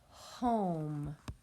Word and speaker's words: home: Our next word is the word home. H-O-M. Home. I hear 3 sounds. H-O-M. The first sound I hear is H. Second sound O. Third sound with that silent E that is not pronounced.